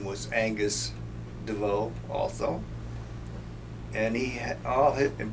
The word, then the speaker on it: Desveaux: you please give us your full name and spell it Angus Devo a n g u s b l a